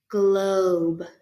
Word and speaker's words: globe: an l blend globe good we don't have to say this silent e at the end because the e has